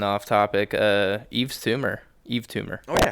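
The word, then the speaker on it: Yves Tumor: it was hype but it wasn't hype hype Eve tumor if you guys have not heard Eve tumor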